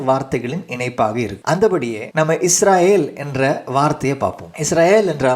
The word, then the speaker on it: இஸ்ரயேல்: ஆனா தமிழ்ல மொழிபெயர்க்கப்பட்ட போது இஸ்ராயேல் என்ற வார்த்தை முற்றிலுமாக மாறி இஸ்ரவேல் என்று உச்சரிக்கப்படுகிறது. இங்கே ஒரு சிறிய மொழியியல் கவனிப்பு தேவைப்படுகிறது. எல் என்ற இறுதி பகுதி தேவனுடைய நாமம், அது வேல் என்று மாறும்போது அதன் மூலம் வந்த உண்மையான எபிரேய அர்த்தம் மறைந்து விடுகிறது.